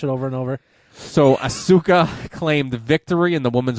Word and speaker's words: Asuka: yes yes boiler alerts so after Japanese superstar Asuka is how you say Asuka sure I saw her live when they came